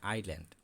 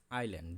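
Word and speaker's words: island: অনেক সময় এটা উচ্চারণটা অনেক ইসল্যান্ড বলে কিন্তু ইসল্যান্ড কিন্তু এটা উচ্চারণ হবে না এটা আইল্যান্ড আই এই ইয়েটা এসটাই উচ্চ থাকবে আমরা এটা ওদের পড়ার সময় সাথে সাথে বলে দিব আইল্যান্ড দপ জে ইউটি জুট জুট অর্থ পাট তো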